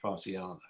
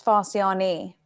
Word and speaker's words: Farsiani: Farsiana. It's Farsiani. Farsiani.